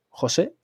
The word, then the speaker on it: José: es que es soy José imposible. con acento en la E, pero es verdad que la E, como el Mm. acento, como que no lo respeto, ¿eh?